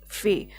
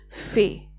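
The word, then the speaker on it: fare: Okay, so we have to just pronounce it fay. That means food, and in pronunciation of this word r should be silent here. Okay, so it would be fay, F-A-R-E, fay.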